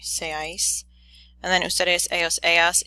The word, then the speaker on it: seáis: Oop, the accent is on the A, sorry, seáis.